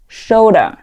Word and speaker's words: shoulder: 它第一个音标读作 sh, sh. 这一嘴巴是往前撅的，同时嗓音不震动，它是一个轻辅音，只出气不出声。sh sh sh shoulder shoulder shoulder 表示肩膀。